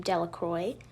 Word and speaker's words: Delacroix: Bobby and Harry Jones and Dickie Delacroix, the village pronounced this name Delacroix, eventually made a great